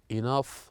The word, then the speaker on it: enough: of fun and here we have the word enough laugh tough that ends with GH they pronounced as the F sound and after this too